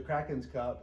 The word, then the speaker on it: The Kraken's Cup: back right I'm here with Valley with the Krakens cup did I pronounce that right you did okay with the Krakens cup and they are located here at 4815 North